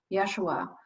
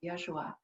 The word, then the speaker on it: Yeshua: I have an amazing connection with Yeshua, my spiritual guide. And that's Hebrew for Jesus. He liked the Hebrew pronunciation when I chatted with him.